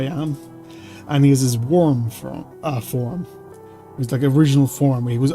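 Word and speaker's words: Wyrm: There's the warm uh the worm version. I keep trying to say it weirdly because it's spelled with a Y. It's W Y RM. Worm.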